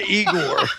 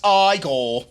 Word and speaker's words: Igor: him who writes this he is approached by eigor Dr Frankenstein Frankenstein you're putting me on no it's pronounced Frankenstein do you also say frck no